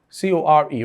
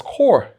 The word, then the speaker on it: corps: The reason is, the first word is pronounced as core. The second word is equally pronounced as core. Now, in the first word, the two letters P and S, they are both silent.